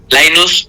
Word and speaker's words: Laynuz: pueden encontrar como linus lainus se escribe la y latina nu Z en cualquier lugar me